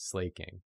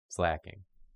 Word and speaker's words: Slaking: So whenever I read it, my brain goes slaking. And it's like, no, slacking.